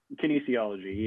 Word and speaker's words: kinesiology: Kinesiology? Kinesiology, yeah.